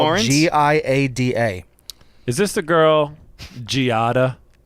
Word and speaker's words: Giada: wife with Jada De Laurentiis?